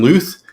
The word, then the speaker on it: Luth: week uh we have nathan luth rhymes with truth and uh louis torres